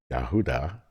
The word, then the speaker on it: Yahudah: The Messiah is a Judean of the tribe of Yahudah, pronounced in English Judah.